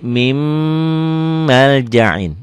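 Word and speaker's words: مِن مَّلْجَإٍ: Ditulisnya min maljain, dibacanya jadi mim maljain.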